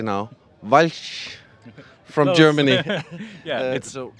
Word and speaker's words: Walch: And I'm joined by, and I'm going to say it correctly now, Walch from Close.